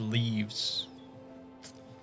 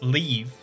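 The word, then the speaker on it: leve: uh okay the old leaves yeah yeah side quests yeah i i know um so i did learn it's pronounced leave leave quests because it's like the old spelling of the word leave and because are you're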